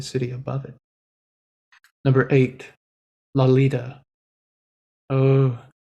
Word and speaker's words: Lolita: above it number eight lolita oh la lita as in lollipop that's how it's pronounced let nevoco tell you